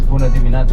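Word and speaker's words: Bună dimineața: bit of Romanian so should start with this buad minata is not the easiest thing to pronounce in Romanian but this is how we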